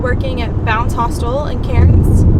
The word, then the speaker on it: Cairns: at bounce hostel and Cairns or Cannes if you pronounce it properly so I just started